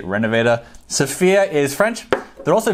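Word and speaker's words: Rénovateur: Now I know it's technically pronounced Renovateur. I actually speak French, but I'm self-aware enough to know that pronouncing it in a French accent is dorky. So I'm just gonna say Renovateur.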